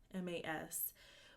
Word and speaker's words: Rhemas: And last thing he does is he had these, okay, I'm not really sure how this is pronounced, Remas or Ramas. It's Rhemas, which basically means that he